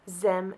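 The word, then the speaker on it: xem: have instituted gender-neutral pronouns pronounced Z ZEM and Zer spelled x-e-x-e-m and x y r these pronouns are encouraged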